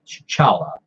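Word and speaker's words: T'Challa: comic number 19 where he actually says that the T is very silent or the T is not is not pronounce it just doesn't pronounce so chala just like his father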